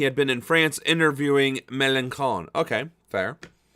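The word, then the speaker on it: Mélenchon: He had been in France interviewing Melanchon. Okay, fair. I like that name because it rhymes with Leon, Puerto Rican Roseport.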